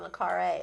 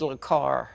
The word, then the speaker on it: le Carré: He's right up there with John le Carré as far as I'm concerned. I'm glad you pronounced that because I would have said le Carré.